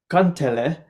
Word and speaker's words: kantele: yeah, national instrument of Finland, and it's called kantele. I don't think I'll be able to pronounce that.